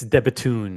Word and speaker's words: De Bethune: The D Bethune has a unique serial number. It's a buffoon! Can you pronounce it, OC? It's De Bethune, actually, but...